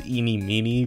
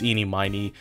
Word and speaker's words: Ini Miney: from her name immediately some people say her name is Eenie Meenie but it's eenie miny and it'll make sense as to why it she's called eenie miny and not Eenie Meenie uh a bit later